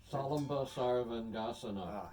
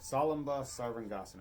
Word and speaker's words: Salamba Sarvangasana: Salamba Sarvangasana. Salamba Sarvangasana.